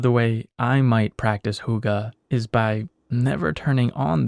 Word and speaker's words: hygge: a word I came across recently it's called hygge it's spelled h-y-g-g-e it's a Danish word and there's